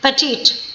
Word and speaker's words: petite: And the correct pronunciation of this word, which is used for very small, is petite.